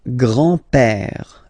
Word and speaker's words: grand-père: Remember, accent grave like that. It's this opened pè. Le grand-père.